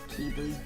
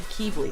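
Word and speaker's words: Quibli: Um, Kibi. They're going to yell at me for how I pronounce his name. Now, what's it supposed to be? Some people say kibi or quibi.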